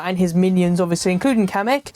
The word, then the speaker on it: Kamek: his minions obviously including kamik so kamek I think is how you pronounce it actually Speaks now so